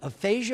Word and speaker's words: aphasia: Jandial, I don't even know how to necessarily properly pronounce it. Aphasia, is that correct?